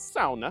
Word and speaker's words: sauna: might be asking is why is he saying sauna as sauna and the reason I'm saying sauna as SAA is because this is the correct pronunciation because the term